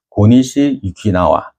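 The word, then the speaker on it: 고니시 유키나가: 그래가지고 이때 1592년 음력 4월 15일 날 일본군 정예부대인 고니시 유키나와, 우리가 보통 한문 읽으면 소소행장이라고 읽는 사람이에요. 일본말로 하면 고니시 유키나와고, 이 사람이 부대들이 이 동래성을 에워싸고 공격을 해와요.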